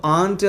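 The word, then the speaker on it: aunt: സോ ആൻറ്റ് എന്നോ അല്ലെങ്കിൽ ഓൻറ്റ് എന്നോ ഉച്ചരിക്കാം, രണ്ടും ഓക്കെ തന്നെയാണ്. ഓക്കെ, എങ്കിലും ആൻറ്റ് എന്ന് പറഞ്ഞായിരിക്കും ഒന്നുകൂടെ നല്ലത്. സോ കാരണം കൂടുതൽ വെറൈറ്റീസ് ഓഫ് ഇംഗ്ലീഷിലും എന്താണ് ആൻറ്റ് എന്ന ഉച്ചാരണമാണ് കൂടുതൽ കാണുന്നത്, ഓൺറ്റ് കറക്റ്റ് ആണെങ്കിൽ പോലും. സോ ഞാനിവിടെ ആൻറ്റ് എന്നാണ് ഉച്ചരിക്കുന്നത്.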